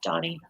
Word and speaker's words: Donnie: So, Donnie or Donnie. Yeah, Donnie. Yeah, you say it like Donnie.